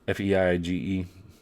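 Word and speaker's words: Feige: this as well Kevin I think it's pronounced feed Fei IgE I don't know it's like siege but with an F anyways he had been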